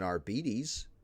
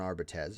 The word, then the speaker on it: Arbites: if I was playing an arbes or an arbites excuse me I've heard it pronounced arbes in a novel I'm